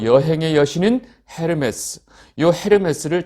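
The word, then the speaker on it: Hermes: 또 여행의 여신인 헤르메스요 헤르메스를 다른 발음으로 하면 에르메스 딱 하면 뭐 아시는 분들이 계실 거예요.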